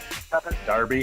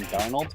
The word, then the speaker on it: Darnold: Darby. Yeah, say my name right if I come on this fucking show, dude. I said Sam Darby. Sam Darby for Heisman. Sam Darnold?